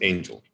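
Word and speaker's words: Aingle: you with angel uh it's spelled a-i-n-g-l-e that's not a mistake but it's pronounced angel and the name is very appropriate because it represents messaging messengers so angel is about messaging it's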